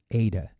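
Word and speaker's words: ἦτα: letter H in English, if we just don't pronounce the consonant at the end and say A, that will give us the sound, eta, A, kind of as in the word obey. And then next to it,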